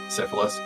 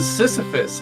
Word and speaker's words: Sisyphus: Syphilis. Yeah, exactly. You want to explain? For those who don't understand, he frequently mispronounces Sisyphus as syphilis.